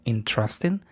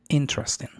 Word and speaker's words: interesting: Tal vez ahorita tú estás viendo, te está sucediendo lo que a mí estás notando que lo pronuncian como interesting. Pon atención y vas a ver que es interesting.